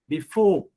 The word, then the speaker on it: before: One is CV, and again you have CV, before. So you have to put stress on for. We don't say before. We say before.